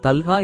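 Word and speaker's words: طلحة: அந்த நபரை அழைக்கப் போகிறவர்களால் தல்ஹா ஒரு அழகான பெயர். நிறைய பேர் அந்த பெயரை பயன்படுத்தவும் சொல்லவும் முடியும். நான் சொல்வேன். நீங்கள் சொல்வீர்கள். நிறைய பேர் சொல்வார்கள். தல்ஹா என்பது சரியான உச்சரிப்பு.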